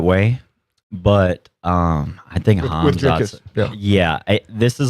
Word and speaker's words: Hamzat: Somewhere in between Isaiah and Ethan is the Yeah, it's the right appropriate pronunciation. Hamzat.